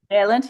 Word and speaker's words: Vaillant: The chapter 14, Vaillant, is that how you pronounce his name? Vaillant, yeah.